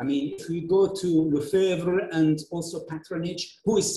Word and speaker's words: Lefebvre: and then moving to Lefebvre, or how they pronounce it in French, Lefebvre, in 1991, with Susan Basnett.